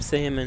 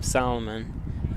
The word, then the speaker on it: Salmon: It's Sam Salmon. I would always call her Sam Solomon.